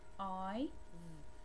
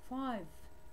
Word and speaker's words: five: Same here. F-I-V. Five. Five. It will not be fiv.